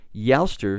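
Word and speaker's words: Eostre: Well, originally a Saxon word, E O S T R E, Yster is how it's pronounced, is talking about a goddess of the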